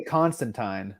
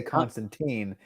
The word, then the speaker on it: Constantine: Yeah, in the UK, they say Constantine. We say Constantine.